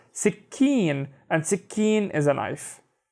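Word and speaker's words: سكين: middle of the shadda because this ka sound is doubled, right? So it would be sick, keen, sick, keen. So notice how I'm doing the ka with both of the syllables. Sikkeen, and sikkeen is a knife.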